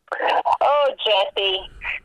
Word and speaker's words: Jussie: So, Jussie. Oh, Jussie. We'll see. Jussie. Now that's just a terrible name. Jussie. The hell. Yeah, it rhymes with another word that I can't say on the air.